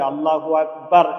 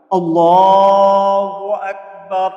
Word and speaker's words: আল্লাহু আকবার: যদি আল্লাহু আকবার ার এভাবে টেনে নিয়ে যাই তহলে এর অর্থ দাড়ায় আল্লাহ ঢোল তবলা বাজনা এরকম দাড়ায় অর্থ তহলে এটা নাউজুবিল্লাহ এটা বলা যাবে না তহলে সবসময় কি বলতে হবে আল্লাহু আকবার একবারে উচ্চারণ করতে হবে আমার সাথে একবার কিভাবে